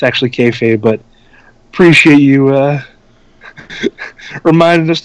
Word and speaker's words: kayfabe: It's actually kayfade, but appreciate you reminding us never to break it.